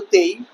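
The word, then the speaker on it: taille: এই টেইলি নামক যে ভূমিকরটি ছিল তাকে ফরাসি উচ্চারণে বলা হতো তেই।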